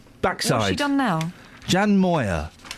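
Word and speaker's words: Moir: millionaires dear J what how do you say her name Jan moer yes stick it up your back side she done now Jan Moyer call me sexist but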